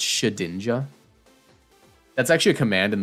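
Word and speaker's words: Shedinja: ninja not shed ninja it's shadinja that's actually a command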